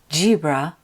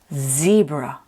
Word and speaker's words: zebra: Z sounds like Z. Think of the sound of a B. Don't say zebra and don't say gibra. It's zebra. Good.